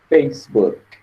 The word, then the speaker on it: Facebook: No caso, depois do K é Facebook. Facebook. Então, a pronúncia morre no som do K.